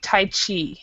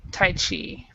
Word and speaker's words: Tai Chi: But this is actually how we pronounce it is in English we say Tai Chi. So Tai Chi.